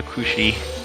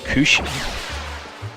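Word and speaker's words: Cruxie: Mustafa's little sister Kushi. Kushi. The translation is a little bit weird. I'll just say that. It's spelled C-R-U-X-I-E.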